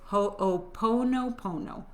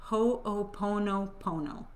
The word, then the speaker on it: ho'oponopono: So I'm gonna say the word, and I wrote it phonetically because I don't want to mess it up. It's ho'oponopono. Ho'oponopono.